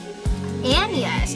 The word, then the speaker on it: Agnes: And it starts with a William Shakespeare meeting Agnes pronounced Annas.